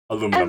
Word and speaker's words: aluminum: Aluminum. Aluminium powder? Oh yeah. Huh? Also valid. Powder? For taking fingerprints. Yeah. One of the many words that Americans pronounce differently.